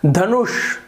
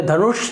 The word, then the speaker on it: धनुष: उसी प्रकार से देखिए धनुष, तो धनुष नहीं बोलेंगे, धनुष नहीं बोलेंगे, धनुष नहीं बोलेंगे, आप भारीपना श में धनुष, तो ये जो